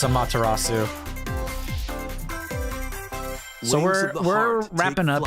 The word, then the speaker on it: Amaterasu: Launches on Nintendo switch Yeah I'm saying it wrong on purpose I know it's a matarasu so we're we're wrapping